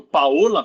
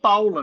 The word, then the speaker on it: Paola: Quem trabalhou com Salomão, se for ler o nome de uma italiana que esteja escrito Paola, vai ler Paula no ar, porque não é Paola, se escreve Paola, mas o nome é Paula.